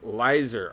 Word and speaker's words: Lizard: Lizard is pronounced Lizer.